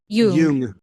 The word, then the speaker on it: Jung: I'm curious, but would you say that the method you're describing from Carl Jung, is it Jung? Is that how you say it? Jung.